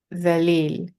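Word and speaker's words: ذليل: Dhalil, dhalil. In Urdu, we say pronounce it differently. Uh, so in Arabic, it's dhalil with the tip of our tongue between the front teeth.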